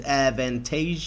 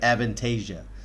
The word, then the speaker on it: Avantasia: another new group to the channel this is advantage i think i said it right avantasia mystery of a blood red rose this is